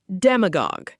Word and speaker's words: demagogue: Demagogue, pronounced dem-a-gog.